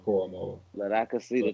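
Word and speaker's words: Owusu-Koramoah: My man, not Karamoa, Koromoa.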